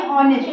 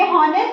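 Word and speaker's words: honest: लेकिन यहाँ पर यश क्या होता है, साइलेंस होता है, तो इसलिए ऑनेस्ट होता है। लेकिन तब भी आप जब इतनी बार हम प्रोनाउंसिएशन कराते रहते हैं, जैसे ही आप ऑनेस्ट बोलेंगे, हॉनेस्ट, आपको याद आएगा नहीं मैम ने ऑनेस्ट बोला है, हो जाएगा।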